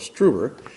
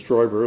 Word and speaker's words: Stoiber: The uninitiated may call him Joseph Struber, but it's actually the German pronunciation was Stoiber, although we don't know